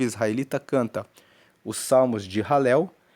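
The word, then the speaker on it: Hallel: que nós falamos que são os salmos de ralel. Ralel se escreve H a L e L e significa louvar a Deus.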